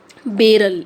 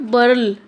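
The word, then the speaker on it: Beryl: First is milli, second is नॉट बर्ल, इट इज़ बेरल, right.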